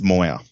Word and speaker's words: Moir: Do you say it Moir, like Kade Moir? No, it's Moir. Moir.